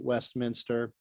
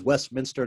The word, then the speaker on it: Westminster: You just have to use the discount code 1MC Westminster. That is Westminster, not Westminster, as we were talking earlier. People often mispronounce our name here.